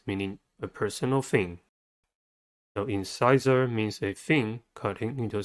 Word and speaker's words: incisor: next word is incisor incisor has three syllables and the stress is at the second one the first syllable is